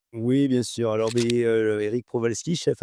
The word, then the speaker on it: Prowalski: Je prononce bien Eric? Oui, Prowalski, c'est très bien. Prowalski.